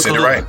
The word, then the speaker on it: Kaluuya: And I was happy that Daniel Kaluuya, right? I said it right? Daniel Kaluuya.